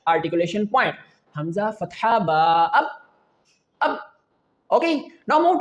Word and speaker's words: ب: The letter baa, when both lips get close to each other, then you can pronounce the letter baa baa.